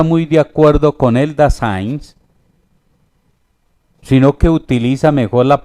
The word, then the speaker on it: Dasein: Pero hay un tema que en él es muy agudo y es con respecto al Dasein. El Dasein o el Dasein, como algunos lo pronuncian, es un término alemán que lo utilizó Martin Heidegger, y la palabra Dasein significa el ser ahí.